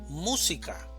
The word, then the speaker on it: música: Música, división silábica. Música. Sílaba tónica. Mu. Música. Relámpago, división silábica.